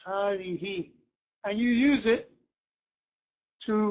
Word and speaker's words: هذه: Sounds like you're pronouncing an alif over here after the ha.